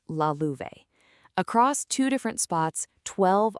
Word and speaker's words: Lalouvesc: And by the way, that's pronounced Lalouvesc.